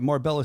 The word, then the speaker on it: Marbella: just so you know how you pronounce this Marb sorry Marbella I read I do I actually have it here in my notes is morb spelled out and I said Morella yeah I'm a jerk